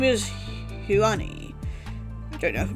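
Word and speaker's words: *Hyun-ae: My name is Huani. I don't know if I'm pronouncing that right. Star is of course silent. It just represents that I'm an AI.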